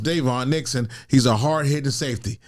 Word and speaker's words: Daivon: all, his name is spelled DaVon, but it's pronounced Devon Nixon.